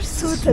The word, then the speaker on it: Ceuta: Suta diye yazılır, Suta diye. Suta diye okunur.